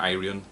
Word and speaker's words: Ayreon: The Theory of Everything this is the most recent Aryan album or Aran however you want to pronounce it absolutely